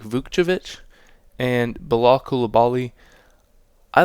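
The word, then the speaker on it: Vukčević: upside picks uh and tristanovic I think is how you say it not vucevic or vujovich it's like vukjevich and balakulabali I like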